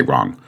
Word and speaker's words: wrong: Obviously, if you eliminated the W and you saw that, you would still say wrong. So the W is silent.